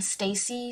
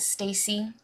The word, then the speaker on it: STAYC: them i'm pretty sure you pronounce it stacy like stay see okay um this is